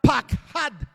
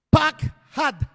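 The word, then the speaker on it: פחד: La palabra lo que más temía viene de la palabra pakhad, P-A-K-J-A, una D, acento en la última A. Pakhad.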